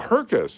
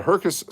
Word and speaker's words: Herkus: Oh, Herkus is how you pronounce. So, the Herkus. Circus. I get it now.